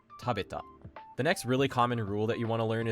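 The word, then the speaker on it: 食べた: Taberu doesn't turn into tabeta. It turns into tabeta.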